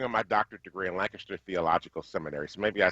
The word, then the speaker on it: Lancaster: I was working on my doctorate degree in Lancaster Theological Seminary, so maybe I say Lancaster wrong.